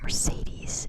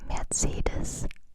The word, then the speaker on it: Mercedes: Did you know it's not called Mercedes in German? It's Mercedes. Just a little, if you want to pronounce it correctly.